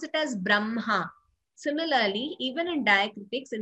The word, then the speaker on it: Brahma: But that is how we pronounce it as Chinha, Madhyanha, Brahma. So there is no mistake. These are the words you should remember that we pronounce as Brahma, though we write ha and ma.